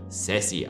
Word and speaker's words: SASE: Es wird SASE ausgesprochen.